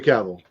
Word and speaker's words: Cavill: Oh, it's definitely Cavill, 100%. So, All right, the Tone. It's like book Nature right here. Boy. It's pronounced.